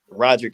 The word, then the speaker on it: Roderick: I'm Roderick. So for the ones that don't know, right? You know, Rod Eric is a variation of the name, but Roderick is how you pronounce it.